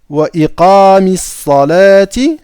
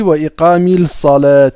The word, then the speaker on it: Wa iqamis salati: Wa iqamis salati, vous voyez? Wa iqamis salati, d'accord? J'ai pas dit wa iqamil salat.